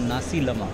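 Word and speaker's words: nasi lemak: है एक Malaysian breakfast है, इसको बोलते हैं नासी लमा। इज it okay? नासी लमा, NASILMA, हाउ डू you spell it, the pronounce it?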